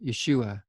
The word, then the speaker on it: Yeshua: use jesus's hebrew name yeshua the name jesus is an anglicized version of the greek transliteration of the name yeshua jesus is not the pronunciation of his original name given at birth yeshua is more likely